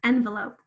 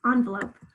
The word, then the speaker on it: envelope: Where is the schwa? Second syllable, envelope. Either, whether you say envelope or envelope, you hear it in the second syllable, envelope or envelope. Both times I can hear it in that second syllable. I can hear the schwa sound right here spelled with an E.